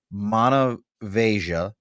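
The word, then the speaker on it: Monemvasia: Rick said you pronounce it as Manavasia in southern Peninsula of Greece.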